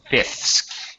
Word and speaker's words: fifths: say this word here fifths okay fifths yes okay um really in in English basically we would you don't really hear that that second f it just sounds like